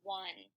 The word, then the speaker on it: one: This is probably one of the trickiest words because the N says N, but the rest of the letters in this word don't really make sense. If we segment it, it sounds like this.